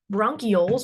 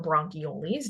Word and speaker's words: bronchioles: the very end um we call these Airways bronchioles or bronchiolis depending on who you are both are okay for me as long as you